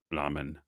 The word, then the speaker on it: ramen: There is no R in Japanese. There's a l sound. Ramen.